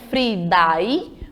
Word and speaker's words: Friday: e falar o dorsday Friday é escrito como Friday mas quando a gente pronuncia coloca um som de ai nesse I Friday certo